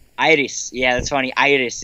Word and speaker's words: Iris: Iris. All right, Iris. Yeah, that's funny. Iris is how you pronounce it. So Iris will be the